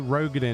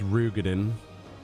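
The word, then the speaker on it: Roegadyn: Rogadin isn't Rogadin, it's Rugadin. I never knew. You're supposed to pronounce it Rugadin, which sounds ridiculous.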